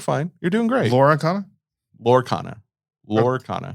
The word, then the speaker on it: Lorcana: Lorcana. Yes. That's what I said. 2 syllables, not 3. So anyway.